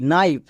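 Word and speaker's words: knife: silent এখানে যেহেতু কে এর পরে এন আছে তাই কে এর উচ্চারণে এখানে হচ্ছে না তাহলে এটা কি দাঁড়াচ্ছে এন আই এফ ই নাইফ নাইফ মানে কি চাকু নেক্সট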